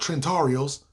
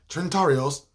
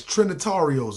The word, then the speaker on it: Trinitarios: gonna be on here talking about trentarios turntarios it sound like i work in a chinese restaurant trinitarios nah it's trinitarios man trinny listen i